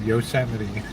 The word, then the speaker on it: Yosemite: Actually, you pronounce it Yosemite.